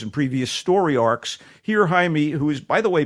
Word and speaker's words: Jaime: 2006 uh when young Jamie or Jaime Jaime Reyes we'll call him Jaime let's get the pronunciation proper here Jaime Reyes it looks like Jamie a Mexican-American teenager bonded